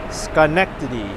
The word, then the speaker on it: Schenectady: You're saying the correct name is Schenectady. I think I learned how to pronounce it earlier, but I forgot already.